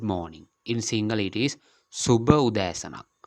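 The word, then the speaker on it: සුභ උදෑසනක්: In single, it is Subha Udayasanak. Subha Udayasanak. The good means in single, it is Subha. The pronunciation also Subha.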